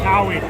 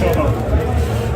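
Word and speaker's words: Touhou: Taui. Taui? Taui. Is that actually? No, it's Toho. Toho. Unless you're scum and say two.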